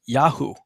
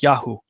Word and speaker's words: Yahu: means Yahuwah has uplifted, but it's pronounced Yahu, that portion of God's name that's incorporated into Jeremiah's name, Yirmiyahu. Same thing with Eliyahu, Elijah. My God is Yahuwah. The pronunciation is Yahu.